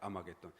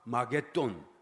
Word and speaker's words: 아마겟돈: 아마겟돈이라고 하는 말은 본래 히브리 말을 헬라어로 이제 그대로 소리 나는 대로 적어놓은 거예요. 아마겟돈. 이게 정확한 것이 아니겠죠. 정확한 발음이 아니겠죠. 정확하게 하면 하마겟돈 이런 말인데 할 언덕 산이라는 뜻이고 마게돈 이말 머기또라는 히브리 단어죠.